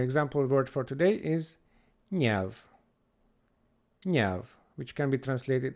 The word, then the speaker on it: nyelv: Next up, we have another double consonant made up of ny. We call this eny, eny, ny, ny sound, like in senior in English. And our example word for today is nyelv, nyelv, which can be